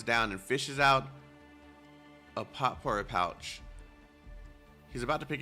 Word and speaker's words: potpourri: Potpourri.